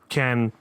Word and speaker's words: Caen: Memorial de Caen in Caen, France. That's C-A-E-N, not C-A-N-N-E-S. It's pronounced the same for some reason.